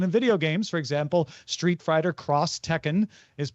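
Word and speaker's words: Street Fighter X Tekken: thing in his opinion in Japan when you see an X in marketing it's usually pronounced cross this is very prevalent in video games for example Street Fighter cross Tekken is pronounced that way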